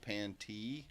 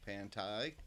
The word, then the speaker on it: Pantee: And yes, it is pronounced Pantee, not Pantai, like I was messing it up earlier.